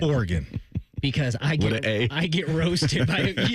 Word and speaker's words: Oregon: wrote it down here, I had to write it like phonetically. So I wrote with an I, like Oregon. Oregon.